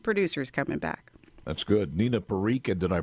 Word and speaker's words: Nina Parikh: Nina Parikh, did I pronounce the name right?